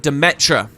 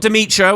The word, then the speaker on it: Demetra: Help Ket investigate the ruins of Demetra. Not Demetra, which was how I pronounced it for years.